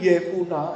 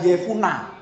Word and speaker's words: Yefune: 14 15 tetapi kepada Kaleb bin yfun ini bacanya gitu ya karena terjemahan lain ada yefuna gitu ya saara diberikan Yosua sebagian